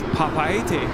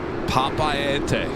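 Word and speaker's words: Papeete: the record straight, because apparently we're saying it wrong. Okay, that's good. I thought he was coming by to say, you're saying it wrong. No, he was really nice. And he said he loves our videos, watches us all the time. And it's Papaete.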